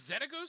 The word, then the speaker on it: Xenagos: So, Xenaghost? Zen Ghost. No, not that one. It's Xenagos. That's how you spell it.